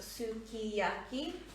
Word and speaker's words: sukiyaki: version um it is in japanese phonetics pronounced tsukiyaki because often the u and the s s u gets dropped when you sang it um so i